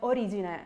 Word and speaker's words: Origine: beginning in the origina which by the way it's spelled origina it's Italian it it has the final e which we read as an A so it's origin any plans of touring